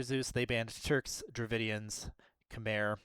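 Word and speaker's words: Khmer: Uh, for winter Zeus, they banned Turks, Dravidians, Camair or Kami, uh, is I think technically how it's supposed to be pronounced, but no one really wants to hear that, I don't think.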